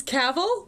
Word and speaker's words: Cavill: properly pronounce my name it's caval rhymes of travel that rhymes with travel exactly is pronounced like travel travel nick's right yeah